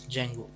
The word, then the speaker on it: Django: For example, we have Flask and we have this Django. D is silent here.